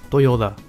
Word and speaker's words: Toyoda: This movie was directed and written by, and I'm gonna try to pronounce the name, Toshiaki Toyoda. Almost like Toyota.